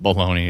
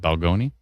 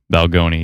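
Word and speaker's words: Balgonie: Not Bologna. It's hold on. I always pronounce that wrong. Is it Balgoni?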